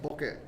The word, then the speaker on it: bokeh: But there's I know the photography people pronounce it bokeh for a blur. In Japanese it's pronounced bokeh, and it's boketeru.